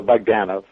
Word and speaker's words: Bogdanove: you scratch the itch oh the the emphasis is on the middle syllable gotcha so bagdana but have to say